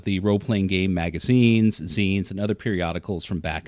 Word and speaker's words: zine: I like to call it's pronounced Zen not z uh this is a